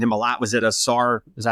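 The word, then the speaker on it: Ausar: Was it Asar?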